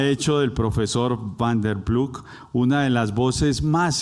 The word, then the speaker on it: Ploeg: Cuando le pregunté cómo se pronuncia, me dijo como quiera, porque ya estoy acostumbrado a que lo pronuncien Ploeg, pero es Ploeg.